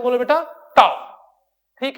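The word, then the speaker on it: tau: इस सिंबल को क्या प्रोनाउंस करते हैं बोलो बेटा? टाउ।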